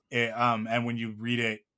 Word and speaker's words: Kuririn: I have such a hard time because he has become Krillin in North American culture, but his name is Karurin. It's Karurin, and when you read it I'm learning Japanese right now.